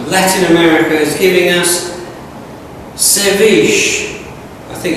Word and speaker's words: ceviche: So Latin America is giving us ceviche. I think it's how to pronounce it.